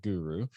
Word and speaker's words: Guru: in hr to guru yes you pronounce that guru so if you're searching